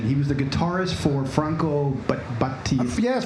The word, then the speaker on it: Franco Battiato: And you're gonna have to help me with the pronunciation. He was the guitarist for Franco Battiato. Yes, Franco Battiato.